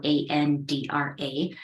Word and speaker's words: Andra: everyone my name is my last name is spelled a-n-d-r-a my family that I married into I'll pronounce